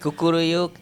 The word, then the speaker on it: kukuruyuk: Like kukuruyuk in Exactly.